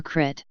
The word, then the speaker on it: kris: Thailand, where it is always spelled Kris and pronounced either as Kris or Krit.